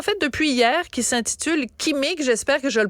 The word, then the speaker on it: Qimmik: ouais oui en fait on prononce le cas comme en arabe c'est kimic mais c'est correct de dire kimic aussi ok mais l'important c'est